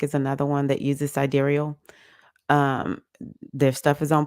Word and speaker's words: sidereal: chart is um called sidereal it looks like side real but it's pronounced sidereal and then the other